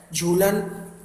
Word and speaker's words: Zhoolan: झूलन, ZHOOLAN, उसमें जो H है वो भी क्या है, साइलेंट है.